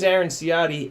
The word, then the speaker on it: Ahren Ciotti: start a stream I say my name is Aaron Ciotti everybody just calls me Ciotti because for some